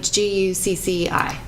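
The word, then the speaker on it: Guxxi: So like G-U-C-C-I. G-U-X-X-I. G-U-X-X-I. You pronounce it Gucci.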